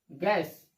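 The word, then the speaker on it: guess: यू का उच्चारण नहीं करेंगे। देखिए आप, जी के बाद यू, जी के बाद यू, जी के बाद यू, तो जी क्या होगा, यू क्या होगा आपका, साइलेंट लेटर होगा। ये यू देख रहे हैं ना, यू साइलेंट लेटर आपका होगा। इसका उच्चारण नहीं करते हैं।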